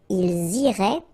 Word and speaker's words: iraient: So, ils iraient. And then if you look carefully, you get A-I-E-N-T. Okay? But then phonetically, it goes like E.